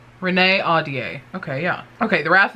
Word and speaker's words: Ahdieh: on okay let's see google's gonna tell us renee audie renee audier okay yeah okay the